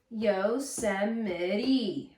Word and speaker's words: Yosemite: Yosemite. Yosemite. There's 4 syllables in there.